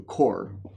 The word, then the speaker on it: corps: So he divided his armies into corps, as they're called, which in French means a body. So pronounced corps, that's an approximation anyway of the French pronunciation of the word.